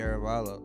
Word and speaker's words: Arevalo: Arevalo.